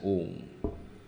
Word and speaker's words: Om: How is Om everything? Om is made up of 3 syllables. A, U, Ma. All right? A, U, Ma. A plus U is equal to O, and O and Ma is Om.